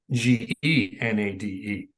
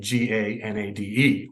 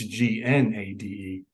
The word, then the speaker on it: Gnade: visited years ago, and they said it's Gnade and it'd be Genade. So that was kind of strange, but it actually makes more sense because when I always give my name for any reason, they always spell it, I say Gnade, so they make it Ganade all the time. And I always have to correct them. It's Gnade.